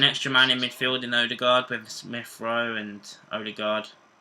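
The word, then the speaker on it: Ødegaard: He says that you pronounce his name Odegaard, but he's quite happy for people in England to call him Odegaard.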